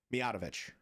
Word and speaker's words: Mijatovic: When you put emphasis on the wrong syllable, it's been changed so that it says the toe is emphasized.